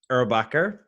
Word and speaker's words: Erbacher: uh i i don't want to get your name wrong so it's yeah erubaka okay yeah and you it's german we're not